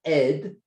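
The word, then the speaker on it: אד: And in Hebrew, the word for mist is ed. It's spelled Aleph Dalet.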